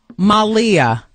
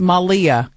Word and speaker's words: Malia: Joaquin Malia. Right? Joaquin Malia. Texter says, Wendy, it's time you learn to pronounce Malia. You're embarrassing us. That's from Tara. I don't want to do that. I don't mean any disrespect. So, Joaquin Malia. Joaquin Phoenix Malia Obama.